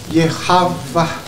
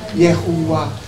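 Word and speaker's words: יהוה: Dibacanya Yehavah. Yahavah. Di sini dibilang Yehuwa, Yahweh, Yehovah. Betul? Yehavah.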